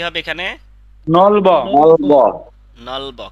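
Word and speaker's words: 넓어: নলব। নলব। নলব। কেন নলব হবে? কারণ এই যে ইয়ং আসার কারণে এটা উপরে চলে যাবে। জি স্যার। বুঝতে পারছেন? এখানে উচ্চারণ হয়, এখানে ব উচ্চারণ হবে। নলব।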